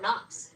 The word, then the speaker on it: Knox: What you did a little deep dive today on Fort Knox. That I did. The interesting thing about Fort Knox is that the K is silent.